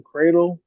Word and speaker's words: Credle: pretty much find me everywhere at I am cradle uh I am cradle c r e dle e I know it's pronounced like a a but spell with a